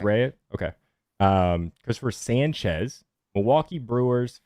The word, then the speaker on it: Rea: Rhea, like diarrhea, or like is it Rhea? Rhea. It's Rhea.